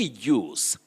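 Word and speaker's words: juice: of migori you say use j-u-i-c-e jews don't say jews or jewish which are very common locally you say jews but j-e-w-s you say use with the voice sounds they use the jewish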